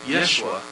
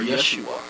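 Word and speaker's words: ישוע: Even the name Jesus, which is pronounced in Hebrew Yeshua, or Yeshua. It depends on the pronunciation. Or Yehoshua. You know, it is the same name for Joshua when pronounced in English.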